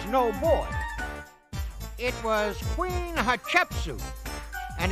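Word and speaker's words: Hatshepsut: boy it was Queen hachetsu and if you say her name quick enough it kind of sounds like hot chicken soup at least that's the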